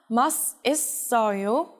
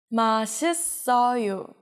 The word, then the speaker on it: 맛있어요: How would you pronounce it? It's not 맛있어요, it's 맛있어요.